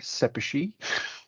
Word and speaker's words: Szepesi: my intro slide here sepachi that's how you pronounce my last name I do work at